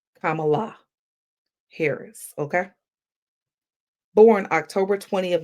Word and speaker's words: Kamala: And for those who still don't understand how to say it, it's a comma and an Allah. Kamala Harris, okay?